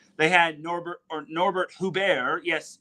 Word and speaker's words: Huber: my book as they had Norbert or Norbert hubar yes it's actually pronounced H hubar not Huber contrary to popular belief um he had himself